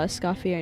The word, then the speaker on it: Escoffier: Still thinking about how Escopier name in the end is pronounced a instead of ear. Hey man, it's French.